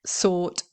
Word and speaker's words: sought: is an irregular verb both the past simple uh and the past participle is sort okay seek sort sort sort is spelled s o u g HT and so if if